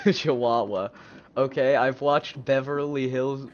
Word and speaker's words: Chihuahua: TTS doesn't know how to say Chahooa. I clearly didn't know how to say it either. Chihuahua.